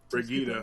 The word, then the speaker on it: Brigitte: Brigida, right? yeah. My daughter, oh my god, my daughter found out how to pronounce her name and like yelled at us because we kept saying it wrong.